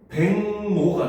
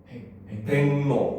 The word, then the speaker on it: 백로: 백로 같은 경우 발음하면은 백노가 됩니다. 그렇죠? 백노.